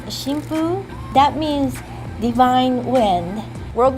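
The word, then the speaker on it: 神風: At that time, the characters were pronounced shimpu.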